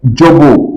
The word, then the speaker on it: Dzobo: Dzobo is spelled D-Z-O-B-O.